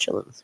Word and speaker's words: chitterlings: I mean, it's spelled chitterlings, but it's pronounced chillins, right?